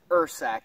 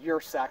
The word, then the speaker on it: Ursack: is break it down awesome yeah it is pronounced earth sack but I've heard it called your sack a lot is spelled urs ACK if the